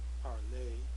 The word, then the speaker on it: parler: So, parler, P-A-R-L-E-R, and parler, E with the accent. They're both pronounced parler.